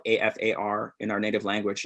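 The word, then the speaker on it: Qafar: so in afar in english is uh spelled a f a r in our native language it's spelled q a f a r afar and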